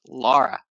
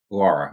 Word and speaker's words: Laura: Wait, before you start, my yep, name is pronounced Laura, like it has a U in it. Laura.